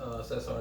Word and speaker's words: Cesar: I was so politically correct, I even said, hey, would you like to, was it pronounced Cesar or is it pronounced Cesar? He says, it's actually Cesar.